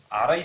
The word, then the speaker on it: арай: В этом же случае в значении ослабления признака слово ары произносится слегка иначе. Первая гласная а произносится чуть сильнее. Арай сарыг. А в этом случае монотонно.